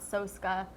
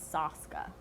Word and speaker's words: Soska: Jen and Sylvia SOSKA, not SOSKA, which I was pronouncing it like that for the longest time, but it's SOSKA.